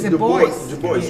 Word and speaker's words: Du Bois: boss well uh yes but i learned that he doesn't pronounce it that way no it's the voice yes and it's uh